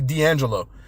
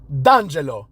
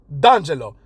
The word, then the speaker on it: D'Angelo: If he's an Italian, then he would know that the correct pronunciation is D'Angelo, right? You don't just pronounce the D separately and then say whatever's after the apostrophe.